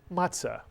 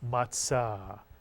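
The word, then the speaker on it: מצה: Passover you'll hear people call it matzah but the Hebrew pronunciation Sephardic is matzah Mitsu Yan and another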